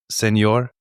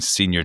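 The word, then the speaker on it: señor: isn't correcting anybody in how to like appropriately pronounce seenor. They're all saying senior Chang.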